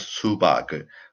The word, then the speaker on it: 수박을: So the pronunciation is 수박을.